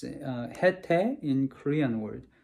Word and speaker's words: Haitai: I don't know how to pronounce it in English, but it's HaiTai in Korean word, HaiTai.